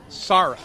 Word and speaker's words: Sara: name for me s-a-r-a s-a-r is pronounced sarah right beautiful name sarah